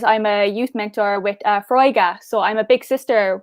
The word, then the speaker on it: Foróige: It's Foróige, yeah. Foróige. Okay, forgive my pronunciation.